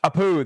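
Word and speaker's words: Apu: Uh the Apoo Apoo, that's what it is.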